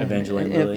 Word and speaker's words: Evangeline Lilly: Evangeline Lilly.